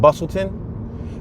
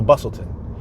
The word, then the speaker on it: Bustleton: don't mind we're passing Bustleton see that says but well it's it's written Bustleton bustle but you don't say the T to T silent so Bustleton we're passing Levick Street